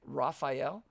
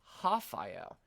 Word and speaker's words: Rafael: But in Portuguese, the R's are actually said as H's. So instead of saying Rafael, we say Rafael.